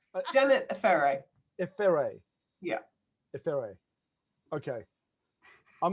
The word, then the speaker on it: Efere: to be interviewing Janet Efere. Am I pronouncing that correctly? Absolutely not. Efere. Efere. I did it again because you corrected me the other day. So, Efere. Efere. Yeah, yeah. Is that better?